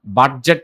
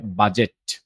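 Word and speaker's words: budget: match এভাবে বলব ওকে তারপর দেখেন যেডিজি এর যখন একসাথে থাকবে তখন আমরা ডি এর উচ্চারণটা করব না শুধু জি এর উচ্চারণটা আসবে যেমন বাজেট হবে না কি হবে বাজেট ফ্রিজ হবে না কি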